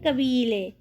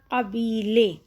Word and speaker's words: قبیلے: نیچے لکھا ہوا ہے قبیلے، ڈنڈی والے کاف سے نہیں آئے گا بلکہ 2 نقطے والے قاف سے آئے گا قبیلے، ٹھیک ہے؟